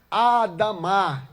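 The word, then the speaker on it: אדם: homem em hebraico significa é pronunciada como a da mar e quer dizer humanidade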